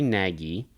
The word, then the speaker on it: Nagy: against the grain begins jerry nagy the g is silent actually saw that on